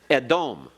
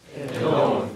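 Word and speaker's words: אֱדוֹם: Edom. Edom.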